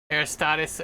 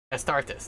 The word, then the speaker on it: Astartes: Like, there's like a fan-made video called Aristotis or something like that. I can't remember how you pronounce it.